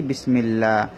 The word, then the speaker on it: বিসমিল্লাহ: লামের মধ্যে খাড়া জবর উচ্চারণ হয়েছে কি? বিসমিল্লাহ।